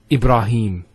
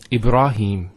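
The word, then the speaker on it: إبراهيم: next word Ibrahim so here IB ra notice here Theta followed by the alif once again along thou ibra no ibra ibrah ibrah and then him Ibrahim has a Kasra followed by the Yeah so here is the elongation of the e sound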